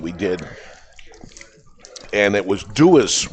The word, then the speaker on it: Dewar's: Well, we have the winner of our taffy competition that we did, and it was Dewar's, right? Dewars. Well, how would you pronounce that?